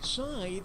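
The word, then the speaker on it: scythe: to pronounce that word with which of these words does this word rhyme beta Ley tithe or W keep go get it sythe rhymes with tithe but I still like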